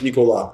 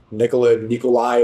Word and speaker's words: Nicolas: My real name is Nicolas. It's a French name. Ooh. Some people say Nikolai. Americans can't pronounce it properly, so Sneako is easier.